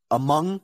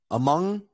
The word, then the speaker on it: among: are all the words where o is pronounced as ah basically just learn this list let's say a couple of them anyway among so I'm gonna say